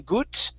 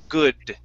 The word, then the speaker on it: good: So on this word here, instead of saying gut and pronouncing a T, it's good. Good. Okay, push the tongue back. You don't want your tongue to touch your teeth. Okay, one more time. Good. Good. Good. Good. That's better. Okay, one more time. Good. Good. Great. That's the D sound. That's the D sound at the end of a word.